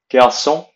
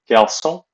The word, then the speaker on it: garçon: Boy, garçon. Notice the accent on the C, garçon. Without the accent, it'd be garçon, which is an incorrect pronunciation, so it'd be garçon.